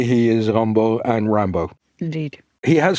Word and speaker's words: Rimbaud: the highlight he references the French poet U Rambo r i m b a u d he doesn't spell it out indeed and so it's report British